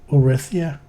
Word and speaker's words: Uretha: Uretha, the whole of our world, pronounced Urethia, with a soft th sound.